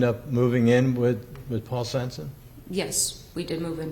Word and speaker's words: Svensen: Am I pronouncing that correctly? Svensen?